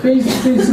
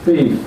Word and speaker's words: faith: 그래서 발음할 때도 fe도 입술을 물고 발음하고 뜨도 이빨, 윗이빨과 아랫이빨로 혀를 물고 발음을 해야지 미국 사람이 알아들어요. 그러니까 처음에 미국 가서 신학교에서 바꿈할 때 페이스 그럼 못 알아들어 그 사람들이 무슨 말 하는 건가.